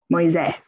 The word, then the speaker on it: Moise: accept calling themselves by the Italian version, by also pronouncing the surname's E. Moise. The French pronunciation in which the closing E is phonetically silenced was reserved for family members who remained on the other side of the ocean.